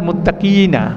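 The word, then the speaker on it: مُتَّقِينَ: ইন্নাল মুত্তাকিনা, এখানে বড় কফ, কিনা মুত্তাকিনা। এখানে দেখা হচ্ছে মুত্তাকিনা, এখানে শুধুমাত্র ছোট কাপ না, এরপরে হামজার একটা টান আছে, ইনা মুত্তাকিনা।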